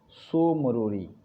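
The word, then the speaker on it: Tso Moriri: Lake मैंने बताया डल झील, वुलर झील, पागोंग झील, और एक चौथा है सो मोरोरी, TSO लिखते हैं, टी साइलेंट रहता है, मोरोरी।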